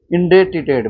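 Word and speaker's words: indebted: इसमें बोलते हैं इन, इसे ध्यान से रखें, इसमें बी पूरी तरह से साइलेंट होता है। इन डेट, इन डेट, क्या बोलेंगे? इंडेटेड, Depp, Depp, date, इंडेटेड बोलेंगे। इसमें इनडेप्थ बोल देंगे हम, तो इनडेप्थ बोलेंगे।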